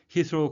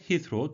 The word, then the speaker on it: Heathrow: 영국의 제1공항, 우리말로는 히스로 둘 다 통용이 되는데요. 영어식 발음은 히스로가 되겠습니다. Rules on noise, air quality and carbon emissions.